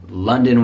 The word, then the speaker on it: London: Many Italians live in London with a nice schwa, double schwa, London.